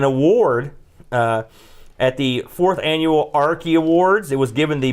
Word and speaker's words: Arkie: at the 4th Annual Arkie Awards. It was given the Best Video Game Audio-Visual Effects Award. The Arkie Award? The Arkies. How do you spell that? A-R-K-I-E. Just like it sounds.